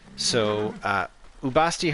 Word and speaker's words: Bastet: Bastet is the Egyptological pronunciation of the writing of her name, and Ra also is, again, the Egyptological pronunciation of the way his name is written. We know from Coptic in both of those cases that their names weren't actually pronounced that way.